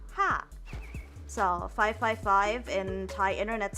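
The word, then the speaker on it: ห้า: And in the Thai language, the number five is uh pronounced like ha.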